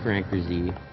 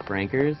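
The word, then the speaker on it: Frankerz: If you could get the Franker Z. Although I hear not only is it pronounced just Frankers, his name is just Frank.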